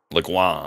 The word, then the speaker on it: Le Guin: Le Guin, the really sketchy soldier. No, see, we got to pronounce it the French way. It's Le Guin.